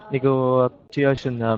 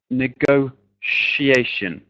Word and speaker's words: negotiation: This word is pronounced negotiation. Negotiation. Okay? So usually in English, in a word, that TIA is a sh sound.